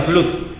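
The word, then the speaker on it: Flood: David y es vea FL FL se pronuncia flut y bueno yo escuché que se pronuncia así son suecos de hecho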